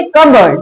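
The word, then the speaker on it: cupboard: P silent रहेगा। तो क्या पढ़ेंगे? कबर्ड।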